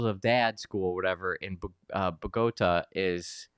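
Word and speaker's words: Bogotá: It seems like this school of father, schools of dad, school, whatever, in Bogota is Bogota. Bogota. Bogota. I'm not gonna even try. The accent's at the end. It's on the wrong syllable.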